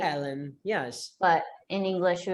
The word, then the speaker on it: Helen: 8 and So yeah, because in Portuguese, you don't really pronounce any H sounds if it's at the beginning of a word, right? So like if you have a girl with a name spelled Helen, in Portuguese, it's Ellen, right?